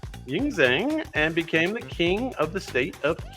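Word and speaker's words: Qin: born Ying Zen Ying Zen and became the king of the state of King King q i n he standardized the written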